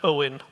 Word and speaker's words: Eoin: uh my name is Owen I realize that's not obvious even for people from the UK uh leave the E off the front my first name is pronounced Owen like that uh I